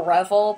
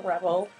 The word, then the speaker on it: Revel: Well, it's the Revel, but I've never pronounced it as the Revel. I've always called it the Rebel.